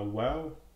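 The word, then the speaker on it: واو: Ensuite on a Wow qui fait le son ou W.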